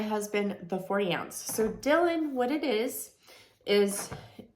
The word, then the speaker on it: Dyln: water bottle so have you guys heard of Dylan it's spelled D Y Ln so I have two